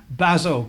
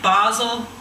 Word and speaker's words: Basel: The Swiss would say Basel with a longer A, but I think Basel's just fine.